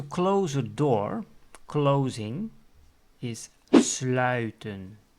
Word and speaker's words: sluiten: To close a door, closing, is sluiten. Again, that ui sound.